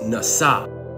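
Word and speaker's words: נשא: The Hebrew word for forgive, which is pronounced nasa.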